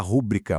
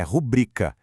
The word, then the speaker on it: rubrica: Muita gente fala rúbrica, mas o correto é rubrica.